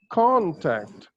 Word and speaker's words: contact: in every word like there are two syllables in this word con and tact so you need to stress one of them and the right one of them actually contact contact okay contact you have